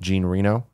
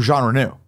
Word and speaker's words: Jean Reno: I think that there's issues with Onimusha because of the likeness of Gene Reno in Onimusha 3. Okay. And is that based on a real person? Jean Reno? Yeah. Oh, Jean Reno.